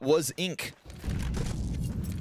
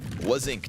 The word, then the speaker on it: Wasink: Can't pronounce that. You're French. I know, it's a weird one. What was Ink? Wasink.